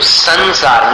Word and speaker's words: संसार: कई उदाहरण दिए थे आपको संसार उस स के ऊपर अनुस्वार है और आगे सार है तो उसको अनुस्वार के उच्चारण को सार में मिलाना है तो संसार न जैसा उच्चारण हो गया फिर संशय